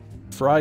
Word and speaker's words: Frey: of Desi the pronounce the pronunciation of Frey rhymes with guy fry guy oh right like Glenn Fry formerly of the Eagles same spelling same pronunciation fry guy got it